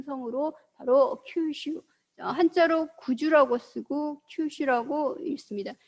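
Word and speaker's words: 九州: 그 다음에 이제 여러분들이 또 보면은 한반도와 가장 가까이 있는 큰 섬으로 바로 큐슈, 한자로 구주라고 쓰고 큐슈라고 읽습니다.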